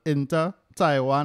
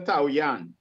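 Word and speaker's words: Taoyuan: a three-year contract with inter taiwan fc i got that pronunciation no no no no no not even close not intertwined not not into taiwan into taoyang okay thank you fc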